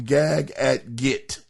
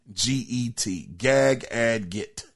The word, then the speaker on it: Gagadget: I actually got from Gag at Git. It's spelled Gagadget. Gag at Git.